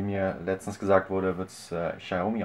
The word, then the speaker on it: Xiaomi: Box oder wie mir letztens gesagt wurde wird's xiaomi ausgesprochen natürlich wird das Ganze wieder gesponsort von tradingasen.de